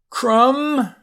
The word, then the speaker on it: crumb: Notice you don't say climb, you just say climb, so the B is silent. Climb the hill. Comb your hair, C-O-M-B, comb. Crumb, like a cracker crumb.